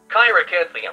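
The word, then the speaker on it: Cheiracanthium: My guess is Shira Chiracanthium. Chiracanthium. Chiracanthium. Not Chiro.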